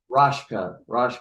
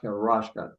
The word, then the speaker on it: Raschke: Rofka. Pronounce it, please. Raschke. Raschke.